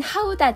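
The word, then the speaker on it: Gouda: 입안에서 부드럽게 녹아서 사라집니다 고다 치즈는 네덜란드를 대표하는 치즈 예요 네덜란드 발음으로는 하우 다 치즈입니다 에멘탈 치즈 보다 적은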